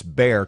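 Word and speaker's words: Bexar: in reference to the San Antonio area its bear county but it's spelled B exa are just to give you guys a heads up is pronounced bear so it's like Louisiana I maybe this is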